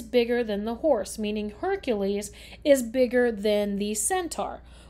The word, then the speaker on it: Hercules: Sometimes you'll hear him called Heracles, but we often pronounce it as Hercules.